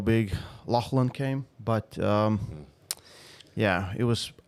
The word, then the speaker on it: Lachlan: Lachlan. Okay. Pronounce it for me. Lachlan.